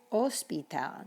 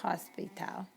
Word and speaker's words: hospital: You don't even pronounce the H in Spanish. It is totally invisible. So when we say hola, or another word you'll see later on is hospital. It's hospital, not hospital.